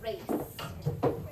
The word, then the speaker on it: race: in the c c that Soft C can say like race race is r a c e even though it sounds like an S all right here we